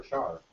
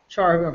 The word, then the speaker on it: char: can hold 16 bits right car or Char Char pronounce it um this be for characters it really should be car um 16 bits right